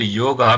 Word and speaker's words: yoga: This Indian lady was saying that she stopped yoga because she found that all the yoga instructors are white.